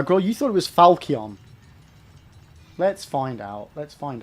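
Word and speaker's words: falchion: Yes, the ch here is pronounced like a K, so it's not falchen or falchian. Falcon.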